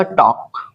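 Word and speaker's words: talk: गया और क्या होगा टॉक टॉक यहां भी एल हमारे क्या है साइलेंट है ट टक मीस होता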